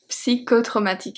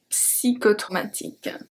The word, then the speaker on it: psychotraumatique: Psychotraumatique. And yes, in French we pronounce the P. Psy. Psy. Psychotraumatique.